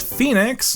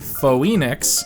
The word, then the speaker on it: Phoenix: trip Sam corrects cat that the city is pronounced Phoenix not foenix bu cat doesn't care as she wants to